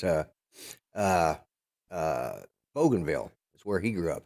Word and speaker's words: Bougainville: was talking about Grant was that uh it's pronounced Bougainville yes if you if you watch uh uh